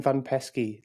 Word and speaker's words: Van Peski: host and today I'm joined by Glenn van pesy did I pronounce that right Glenn you did it sounds